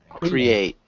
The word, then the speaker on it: create: create then create create create create yeah so we want to emphasize the second syllable create create create okay